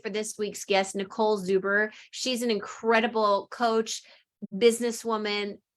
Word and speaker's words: Zuber: I am super uber excited. It kind of rhymes with your name, actually.